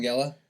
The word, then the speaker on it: Langella: James Marsden, how do you pronounce this guy's name? Franklin Langella. Yeah, Langella.